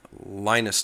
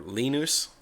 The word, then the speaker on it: Linus: that movie he says depending on what language I'm speaking my name is pronoun pronounced differently so uh it's either lonus in English or lenus and a lot of